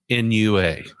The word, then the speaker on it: Talnua: Let's spell it out for everybody just to be sure. Talnua.